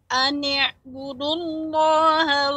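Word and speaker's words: أن اعبدوا الله: An i'budullaha wattaquhu wa ati'un. Kemudian untuk ain nanti dilatih. Ain ini sifatnya bainiyah, tidak tertahan, juga tidak banyak mengalir. Jadi pengucapannya ani'budullah. Jadi tidak sukun.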